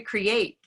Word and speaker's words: create: a full sound correct for example in pit the world the word pit the t is more pronounced but in create it's kind of almost omitted interesting for me i